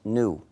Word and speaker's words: GNU: que selon le dictionnaire ce mot se prononce nous c'est à dire nouveau mais il faut ne pas suivre le dictionnaire parce que si tu dis the news tu peux confondre les gens parce que c'est faux parce que nous avons